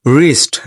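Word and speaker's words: wrist: এখানে এখানে কিন্তু ডব সাইলেন্ট। ডব উচ্চারিত হবে না।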